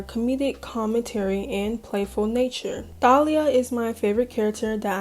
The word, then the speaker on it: Thalia: to make sure, but the translate is pronouncing it Talia. But I don't think that's her name. That cannot be her name. I think it's Thalia, and that's what we're going with.